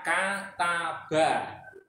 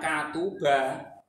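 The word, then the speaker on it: كتب: sini faala berarti nantinya bacanya kataba bukan katuba bukan katiba salah harus sesuai harakatnya ini gitu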